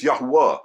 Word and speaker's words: Yahuwah: In this book, I will prove that the pronunciation is Yahwa.